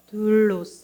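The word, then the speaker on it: δοῦλος: 둘로스 다음께 시작 둘로스 괄호 안에 있는 글자를 읽으면 둘로스라고 읽습니다. 둘로스 좀 길게 읽어야 돼요.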